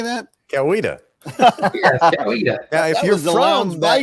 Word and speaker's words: Coweta: do you say that Coweta yeah if you're grounded by area if you if you were old school from that area you might pronounce it east kaita I was a little